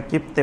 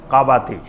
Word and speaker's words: কাবাতি: ওইটার নাম ছিল কাবাতি ওইটাকে এমনে কিপ্তি বলা হয় কিন্তু মূল উচ্চারণ হলো কাবাতি এক গ্রুপ হলো বানি